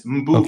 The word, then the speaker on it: Mbube: Like you're gonna say, like you're gonna say bed, but there's no D, so it's Mbube. Okay. Yeah. Mbube. Mbube. And that word means lion in Zulu.